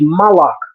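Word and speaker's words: מלאך: The word for angel is malach. The only difference is the vowel shift.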